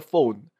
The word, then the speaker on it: phone: So, basically here, four furious friends fought for the phone. It's very important to take note that the ph sound in this case is pronounced as the f sound which is that's why you have the phone.